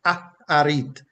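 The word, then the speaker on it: אחרית: Achariy, right? And as I said, how that is pronounced is Aharit, Aharit.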